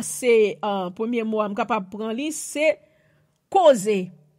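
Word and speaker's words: חוזה: Un premier mot là, c'est premier mot, je suis capable de prendre c'est causer. Causer, c'est C-H-O-Z-E-H. C'est C-H-O-Z-E-H. Il prononce causer, ça son mot hébreu.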